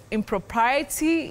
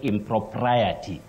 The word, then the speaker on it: impropriety: Do we say impropriety? Is that the correct pronunciation? You've got pride, mm-hmm, Betty. You say impropriety, okay, not impropriety that we commonly hear around us.